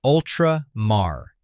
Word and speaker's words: Ultramar: Ultramar is Ultra-mar.